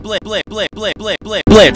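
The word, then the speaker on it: Blitzo: Hi there, I'm Blitz. The O is silent, and I'm the founder of Little Caesar.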